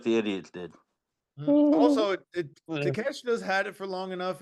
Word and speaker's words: Takeshita: We have Konosuke Takeshita, and that's how you pronounce it. Yeah. against Kenny Omega. Keith, who you got? Omega. All right. D'Lo, who you got? It's Takashita, and he's getting the W again.